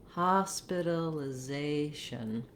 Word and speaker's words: hospitalization: Other strategies, besides building from the stress syllable, just try one syllable at a time slowly and begin to speed up. For example, Hospitalization.